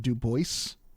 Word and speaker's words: Dubois: It's pronounced Dubois.